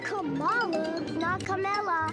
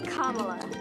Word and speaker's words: Kamala: how to say it it's not kamala it's kamala kamala harris just combine comma with la and you get kamala you know you spoke